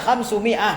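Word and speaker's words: خمسمائة: miiati Iya bacaannya apa khamsamiah atau khamsumiah kenapa kenapa khamsamiah ahah di sini bacaannya adalah khamsumiah karena dia mubtada muakhar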